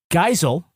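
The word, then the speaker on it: Geisel: to SAI that his last name is actually pronounced geel oh that's fine Dr zeuss pro-choice anti-fascist who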